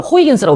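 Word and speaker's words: Huygens: 오케이 하나 더 충합시다 하위원스 저분은 네덜란드 사람인데 예전에는 저가 제가 배울 때는이 사람 이름을 호이겐스라고 배웠어 호이 호이 호이겐스 근데 영어식 아니 미국식 발음으로 이제 하위어으로 바뀌었는데 저분이 누구냐면 뉴턴하고 동시대에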